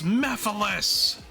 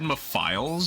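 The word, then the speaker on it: Mephiles: Um, but he's like it's Mephilus because I think I said Mafiles at first.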